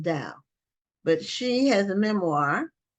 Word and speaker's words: Dao: I think her last name is pronounced Dow, but she has a